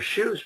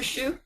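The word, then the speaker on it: Hsu: Shu? Yeah, and Shu is spelled H-S-U, and you can find it on my website.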